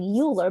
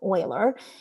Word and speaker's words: Euler: So Euler, I know it kind of looks like Euler, but it's pronounced Euler, is referred as the